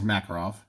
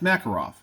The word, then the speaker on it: Makarov: Jack we have two makarovs so one is in 380 ACP it's this one here made in Bulgaria so a Soviet designed Makarov or marker off I guess it's Makarov yeah it's Makarov I don't want to